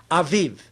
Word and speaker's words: Aviv: Aiv.